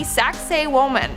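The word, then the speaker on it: Sacsayhuamán: yet in our fourth spot we have the saxay woman and I know what it sounds like but that's how you pronounce it so just I know I know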